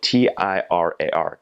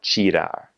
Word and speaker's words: tirar: And then in the middle of a word, if there's a T-I, so the word for to take something is tirar, spelled T-I-R-A-R, tirar.